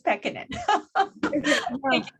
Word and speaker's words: Pekkanen: just wanted to say my last name is pekkanen i know it's a hard name to pronounce but it's peccad i tried not to